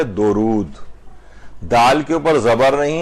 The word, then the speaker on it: درود: ہوتے جاتے ہیں۔ اچھا، ایک تو پروناؤنسیشن کی جو غلطی ہے تلفظ کی، لوگ اسے پڑھتے ہیں درود، اور اردو میں بھی استعمال ہوتا ہے کہ بھئی دم درود، آپ نے سنا ہوگا، تو یہ درود نہیں ہے بلکہ ہے درود۔ دال کے اوپر زبر